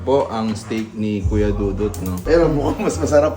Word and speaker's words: Dudut: Pero mabait siya sa personal guys, Kuya Dudut. Siya po ay isang cast ng isang... Kuya Toto. Di ba walang T yun? Kuya Dudu lang.